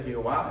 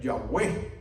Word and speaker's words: Yahweh: aferran al nombre de Jehová es una cosa mal hecha una mala lectura en última instancia si tendríamos que pronunciar el nombre sería Yahweh que quiere decir él es